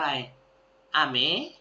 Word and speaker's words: 雨: มา เขียน คันจิ ตัว แรก อ่าน ว่า อะไร อะเม นะ ครับ อะ เม ฝน นะ ครับ ตัว